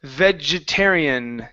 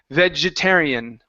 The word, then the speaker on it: vegetarian: Um, next up we have the word vegetarian. Okay, give me a J sound here. Ve vegetarian. Vegetarian. Vearian. Okay, watch your R. Instead of thian, it's terian. Vegetarian.